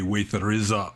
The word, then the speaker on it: Vesaraja: In Burmese pronunciation, it'd be Waithariza Bhikkhu.